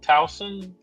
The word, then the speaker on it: Towson: Anybody picking Towson?